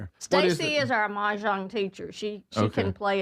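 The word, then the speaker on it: mahjong: Majan.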